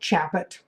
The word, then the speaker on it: Chaput: my name is Chaput a funny last name Chaput in French it's so shocking when